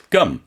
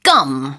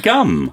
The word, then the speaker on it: gum: You don't say gum, No, right? no, you don't need to say gum. You say gum. gum. 그래서 그냥 기역 같은 발음이에요. gum. Yeah, just 근데 think 부드러워요. think of a Korean bear, a gum chewing gum.